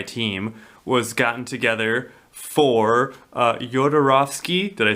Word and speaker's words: Jodorowsky: So he, Dan O'Bannon, he was a screenwriter, and he was originally the sci-fi team was gotten together for Jodorowsky. Did I say it right? Jodorowsky.